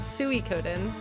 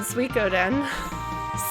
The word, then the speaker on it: Suikoden: but it's not Suey it's not Suey codon like it's not